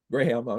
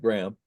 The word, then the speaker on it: Graham: Graham, I know that's the way he pronounces that, not Graham.